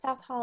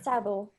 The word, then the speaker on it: Southall: So, my first school was in a place called South Hall, and then my second school was in a place called West Drayton. You pronounced that wrong. It's South Hall. Yeah, sorry, Southall. Southall.